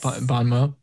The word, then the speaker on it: bon mot: box wow thanks guys is it bon mo or bon mod bon mo but it's spelled bon mott cause it's french is as good as